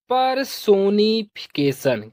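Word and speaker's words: personification: ए से पढ़ेंगे के तो यह हो जाएगा परसोनीफिकेशन क्या हो जाएगा परसोनी िफिकेशन परसोनिफिकेशन इसका हिंदी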